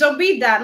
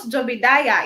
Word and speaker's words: Jobida: It's Jobida, not Jobidaya.